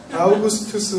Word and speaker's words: 아우구스투스: 발음이 좋아야 돼요. 아우구스투스 황제입니다. 이 황제가 로마의 평화시대를 시작한 황제입니다.